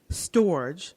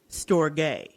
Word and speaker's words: storge: we're gonna talk about storage or storge if you want to pronounce it in the proper Greek way I did look it